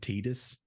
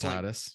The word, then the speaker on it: Titus: do you know they pronounce his name Titus, which is wrong? It's just Titus.